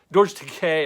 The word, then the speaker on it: Takei: And why exactly did George Takei, I should say, rhymes with gay.